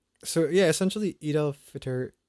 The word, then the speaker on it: Fitr: So yeah, essentially Eid Al Fitr, is it Fitr or Fight? You're saying it right.